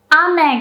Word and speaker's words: 雨: Ame ga futte imasu. Ame ga futte imasu. That means it's raining. So, can you hear ame? Is pronounced with a high pitch.